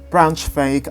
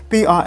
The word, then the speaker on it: Braunschweig: However, formal charges against Bruckner by the court in Braunschweig, I've mispronounced that, Braunschweig, have been delayed due to confusion over where